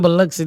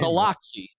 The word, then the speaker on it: Biloxi: Is that you really hit the O? Or do you say Biloxi?